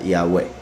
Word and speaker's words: Yahweh: persona masculina futuro imperfecto, el acento va al final, sería Yahweh.